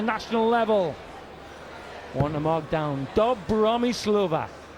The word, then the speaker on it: Dobromyslova: level one a markdown dub Bahrami Slovak rhymes with bossa nova so we're going around